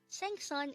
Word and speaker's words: 생선: interchange this word but sang-son is fish and sunseng is teacher if you'd notice it's easy to get confused with these two words because the two syllables of this word are the same both of them has sun and sing but the one with the sang first is fish and the one with the sun first is teacher please remember